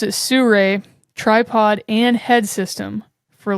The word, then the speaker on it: Sirui: It looks like Siriu also, but they pronounce it Suray tripod and head system for like $280.